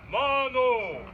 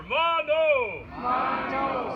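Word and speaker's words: manō: so a whole opinion by repeat after me Mago we got to do it twice make sure it sticks in there mono and that my friends is how you say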